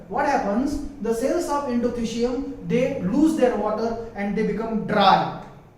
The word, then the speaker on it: endothecium: This layer we call it as endothecium, or some people also pronounce it as endothecum, but that is called as endothecium.